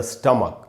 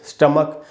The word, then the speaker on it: stomach: स्टमक पढ़ेंगे दोस्तों इसको, STOMACH, स्टमक। इसको कई बार लोग स्टोमैक वगैरह पढ़ लेते हैं, वो ठीक नहीं है। इसका करेक्ट प्रोनाउंसिएशन है स्टमक।